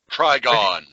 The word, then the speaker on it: Trigon: big finale with uh-oh I'm saying his name wrong tri dragon Trigon Trigon which itself would laugh you